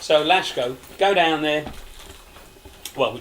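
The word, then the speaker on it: Laško: yeah spell l-a-s-k-o but it's pronounced sh because it's got a little thing over the top of it so lashgo go down there well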